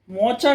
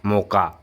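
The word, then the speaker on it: mocha: मो सी इच्छा त्याचं प्रोनन्सिएशन मोका असतं तुम्ही पण नाही तरी पण मी खाल्ल की गपचपी विचारता अरे मी अरे स्पेलिंग नुसार वाचता ना माणूस भाई इट्स नॉट मोचा इट्स मोका मोका आहे का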